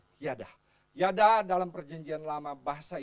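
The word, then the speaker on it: ידע: Tulisnya knowledge, tapi bacanya yada.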